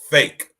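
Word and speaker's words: PHEIC: in geneva on saturday a fake pronounced fake now this word fake y'all p p-h-e-i-c right it's pronounced fake go figure right applies to an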